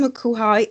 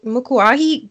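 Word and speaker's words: Mokuahi: don't butcher your name makuhai mukuahi garnet you got it the ground the ground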